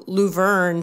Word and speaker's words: Luverne: I know music has always been sort of a love for you, and you grew up in Luverne.